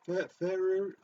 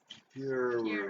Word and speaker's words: Ferrer: How do you pronounce his Ferrari? No, that's disrespectful. Miguel Ferrer.